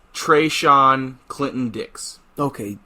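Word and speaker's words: Treshon: is are you ready for this no hashon treyshawn clinton dicks okay it's spelled h a apostrophe sean t-r-e-s-h-o-n clinton dix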